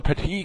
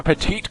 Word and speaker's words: Petit: out to that correction there's no e at the end so you don't pronounce last T but Cho will lead